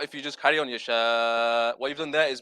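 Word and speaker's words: يشاء: If you stop there, there's glottal stop at the end. Yasha. The hamza has to be pronounced at the end. A lot of people, what they do is yasha. Yeah, there's no ending. Either that or they change it into a ha.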